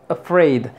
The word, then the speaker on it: afraid: de a tenemos Afraid afraid este es una sha Vamos a ponerle aquí sha no es una a si lo pronuncias como a afraid está incorrecto si lo pronuncias como